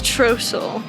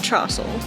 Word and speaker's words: Trosel: So it's Trosel. Trosel. Not Trossel. Not Trossel. Yeah.